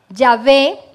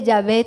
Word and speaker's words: Yahvé: Ahora pues, hijo mío, Yahvé, bueno, aquí en la Biblia aparece la Y, la H, la B y la H, no se puede pronunciar, entonces, bueno, vamos a decir Yahvé, sea contigo para que